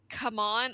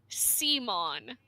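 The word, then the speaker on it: c'mon: characters use the word come on a bunch. So C comma M O N I would pronounce it as Seimon.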